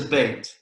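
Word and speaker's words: בית: then okay yeah so it's pronounced like the bait like you fish with hey what about this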